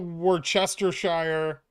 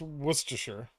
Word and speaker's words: Worcestershire: you pronounce worcestershire worcestershire it's not worth chester shire it's it's just worcestershire you're hella cute thanks